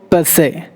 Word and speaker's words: per se: Next word, per se. Per se. Per se. Per se. R is silent.